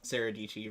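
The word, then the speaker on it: Sarah Dietschy: she came up with her whole thing is Sarah DT rhymes with PG because like her last name is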